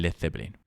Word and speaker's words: Led Zeppelin: balon por Zeppelin y Peter Grant le dijo que quitas la a de led para evitar que lo pronuncias mal quedándose en Led Zeppelin Led Zeppelin es la